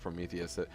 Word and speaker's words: Prometheus: or prometheous but it's it should be pronounced Prometheus I'm pretty sure that's